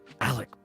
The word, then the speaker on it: Alec: Alec the way I should say it correctly Alec Baldwin up yours Matt Damon uh okay Alec Baldwin movie that starts with m uh give me the year 93.